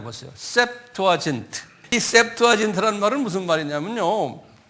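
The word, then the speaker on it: Septuagint: 그 번역된 그리스 성경이 그리스 말로 된 성경을 셉투아진트 그러는 거 한번 발음해 보세요 셉투아진트이 셉투 아트라 말은 무슨 말이냐면 아 이게 라틴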